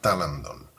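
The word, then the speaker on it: τάλαντον: viene del griego talanton se pronuncia talanton y que era el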